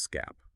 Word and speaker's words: SCAP: These come from NIST's Security Content Automation Protocol, or SCAP, pronounced SCAP.